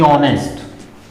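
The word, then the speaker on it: honest: तो जब इसको प्रोनाउंस कर रहे हैं ऑनेस्ट, किसकी साउंड आ रही है, ओ की। ये वाली साउंड आ रही है इसमें, ऑनेस्ट।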